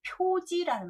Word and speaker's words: 표지: 수 있는 식자가 되고 기록할 지자로 제일 많이 쓰는 게 표지라는 말이 있습니다. 표지. 표지판 할 때 표지요. 그래서 알식만 있는 게 아니라 발음이 지가 있었구나. 꼭 알아두십시오.